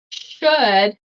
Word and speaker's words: should: So we have wood. The L is not pronounced. So would, should, could. Would, should, could. Okay. Remember, no L.